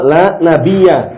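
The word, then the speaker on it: لا نبي بعدي: penutup para Nabi kemudian Bacanya apa la nabiya bukan nabiun ya La Nabi ba'di artinya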